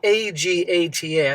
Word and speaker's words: Agata: Her name is spelled A-G-A-T-A. I think it's Agata. In the last video, you guys confirmed that's how you say her freaking name.